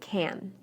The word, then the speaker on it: can: the a is pronounced when I say can inside the sentence I shortened the a listen carefully to these sentences and pay close attention to the word can I can hear you